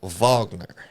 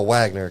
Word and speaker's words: Wagner: It's actually pronounced Vagner. Yes. But I go Wagner cuz I'm American.